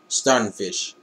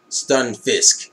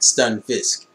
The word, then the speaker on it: Stunfisk: pal palad pal what the how do you pronounce this fucker's name? Palpito has a palpitish stunfish. Stunfisk my bad. Stunfisk.